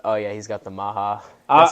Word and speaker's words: MAHA: the policy perspect oh yeah he's got the Maha that's how you say it right yes Maha I interrupt you real quick I was going